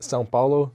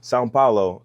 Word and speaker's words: São Paulo: Sao Paulo, how you say it? São Paulo. São Paulo.